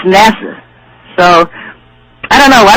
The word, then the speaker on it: NASA: you know these people it's NASA it's not Naza and to read they're